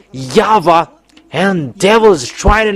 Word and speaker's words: Yahweh: How to pronounce this W? Is it Yahwa or Yahoo or Yava? And we know that it's Yava who takes people away from sins. But because you people were looking for explanation and it's that's why we look for their uh in uh this uh incyclopedia with we keep it there in Jewish they pronounce W into V.